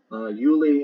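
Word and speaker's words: Giuli: The G is pronounced like a Y. Juli in the Old Swedish Jolmanuther, the Icelandic Ulir, that's spelled Y-L-I-R for Euler.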